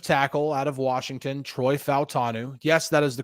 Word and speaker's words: Fautanu: round pick offensive tackle out of Washington Troy fanu yes that is the correct way to say his last name fanu he said it last night um yeah so